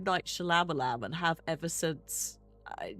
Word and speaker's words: Shyamalan: Shyamalan. The Y is silent.